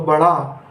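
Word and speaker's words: بڑھا: जब बड़े 2 चश्मी हे मिलती हैं तो आवाज़ निकलती है हड़ा की, तो बढ़ा, हमजा ये ई, तो बड़ा ई।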